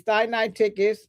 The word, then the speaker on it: Sinaiticus: I broke it down so I can pronounce it correctly. Sinaiticus.